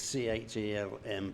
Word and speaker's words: Chelm: Yeah, when we were at this AMI party in Chelm, it's C-H-E-L-M, but pronounced Chelm.